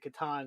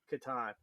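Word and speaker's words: Catan: sellers a Katon um how do you pronounce the game settlers I've always said settlers of Katan yeah uh is that right I don't know so I had I had Pete Finland on a couple weeks ago who was the CEO of Katan Studios and uh he he pronounced it Katan so I feel Vindicated that it's probably Katan I I will yield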